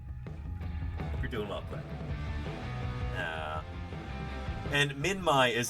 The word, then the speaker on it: Minmi: And Minmai is how it's pronounced. I didn't know that until I met Ralph Molner. I'd been saying Minmi my whole life up until that point.